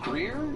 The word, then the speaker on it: Greer: Stephen Greer. Have I pronounced that correctly?